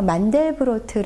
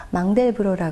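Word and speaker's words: Mandelbrot: 아는 프랑스 수학자를 통해서인데요 뭐 만델브로트 고도 발음을 했었고 최근에는 외래어 표기법에 따라 망대 브로라 발음을 하는데 년에 타계했는데 우리나라에도 두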